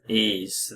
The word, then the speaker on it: Ys: s it's y s so it's e e ease the vanishing Omens which is a Master System